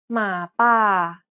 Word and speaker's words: หมาป่า: หมาป่า หมาป่า Even though both the first and second syllables contain a long vowel, the first long vowel is pronounced shorter than the second one because the syllable is unstressed.